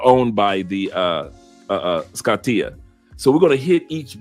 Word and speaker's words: Scotia: at all Lee Perry it is pronounced Scotia thank you very much not scatia Scotia because I don't want